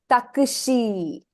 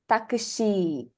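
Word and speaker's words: タクシー: And when you pronounce it, I suppose the Japanese hear an elongation at the end. So she is actually elongated in the Japanese pronunciation. Takushi. Takushi.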